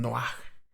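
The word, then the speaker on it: Noach: el nombre de noé el nombre original que era es la pronunciación noa que significa alivio en génesis capítulo 5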